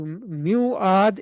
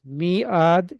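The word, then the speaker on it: ميعاد: So, so wow got changed to a yah to muad is difficult to pronounce. Miad is easier to pronounce.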